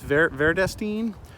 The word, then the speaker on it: Vredestein: And I think I pronounced it wrong in the first video, but I've been told it's Vredestein, Vredestein, Vredestein.